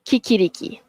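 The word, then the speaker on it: chicchirichì: Okey, kiki riki. That's the right pronunciation. Kiki riki.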